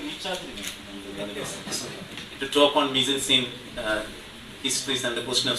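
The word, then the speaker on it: mise-en-scène: Mise-en-scene means, it's correctly pronounced as mise-en-scene.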